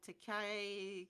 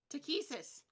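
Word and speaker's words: Takhisis: That this motherfucker right here, this big guy, he's wearing armor that's emblazoned with the symbol of Takai. Where the hell is that pronunciation guide? Takesis.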